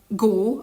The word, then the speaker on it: go: a diphthong in Hungarian, or that "go" is not "gó", with a long Hungarian letter "ó", but consists of two sounds. When you say it, you hold your mouth differently than when you finish it. As if it started with "o" and ended with a "u" a little.